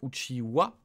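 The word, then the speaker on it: Uchiha: naruto qui est uchiwa qu'on prononce ou chee wah wah alors que ça s'écrit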